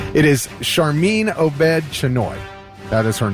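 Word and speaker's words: Sharmeen Obaid-Chinoy: sure I say her name right it is charmine OED chenoy that is her name and she was a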